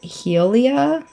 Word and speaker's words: Hylia: it's highly uh but some Gamers pronounce it Helia that's crazy I've always thought of it as hylia oh hello friend